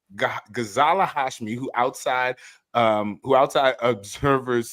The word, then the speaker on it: Ghazala Hashmi: How do you pronounce this person's name? Ghazala Hashmi. Ghazala Hashmi, who outside observers said won the debate.